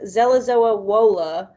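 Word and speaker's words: Żelazowa Wola: He was born March 1st, 1810, and I'm going to try my best to say that it is pronounced Zelazowa Wola, Poland, and he died October 17th, 1849 at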